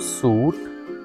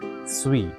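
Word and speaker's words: suite: It's not suit. It is sweet.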